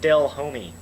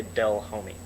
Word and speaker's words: Delhomme: the past Jake Delhomme Jake Dale homie because I used to not be able to pronounce his name I used to say del homie that's a story for